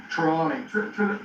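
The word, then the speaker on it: Trelawny: How do you pronounce that? Tremlon County Parish? Or Trelawney. Trelawney.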